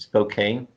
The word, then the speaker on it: Spokane: there's another one I seen in I can't pronounce okay it's Spokane is how you okay yeah never beautiful city